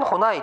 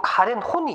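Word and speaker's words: Karen Horney: 카렌 호나이 또는 뭐 카렌 호니 이렇게 발음합니다. 뭐 외국인 이름이라 호나이 또는 호니라고 해도 상관없는데요.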